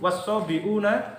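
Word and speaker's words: والصابئون: Khusus ini bacanya wasabiuna wan nasara. Innalladzina amanu walladzina hadu wasabiuna wan nasara.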